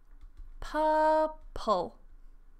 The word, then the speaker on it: purple: Purple. So notice I'm not transcribing the R. I don't transcribe purple. Purple. That's because I'm not American. So we don't pronounce the R.